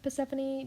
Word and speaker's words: Persephone: i do realize that i just said purple instead of persephone don't ask me why i pronounced it as such um i do in fact know that it's meant to be persephone except for some reason